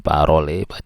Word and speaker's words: parole: kemudian langoi bacanya long, kemudian parole bacanya parol.